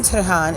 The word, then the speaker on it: Tehran: So when in Tehran, is that how I pronounce it?